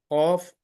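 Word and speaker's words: قاف: here fa so uh C is again the throat letter um you know there is a small um you know in Tel it called as a Kuka in English I don't know the name but it's a small tongue behind this um uh behind this point so here is the one just a minute please uh this one is a c cough is coming from the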